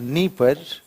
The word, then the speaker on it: Dnieper: One is a Dnieper. One is Dniester. One is Don. Are you finding there? Everywhere you will find the name begins with Don. Somewhere D is silent.